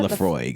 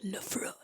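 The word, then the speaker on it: Laphroaig: How do you pronounce it? Lafroig.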